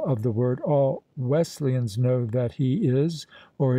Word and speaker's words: Wesleyan: of their denominational name if a man pronounces the word Wesleyan as if the S were a z and puts the accent upon the second syllable one may safely conclude